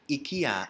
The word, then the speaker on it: IKEA: this way so if i tell you that ikea is the original pronunciation right so if i tell you that